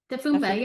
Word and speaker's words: Dafoompah: Is it Dafoompah? Dafoompah, yep, that's it.